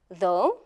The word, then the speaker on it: though: However, in other words, we do not pronounce them at all. For example, in, though, through, and although.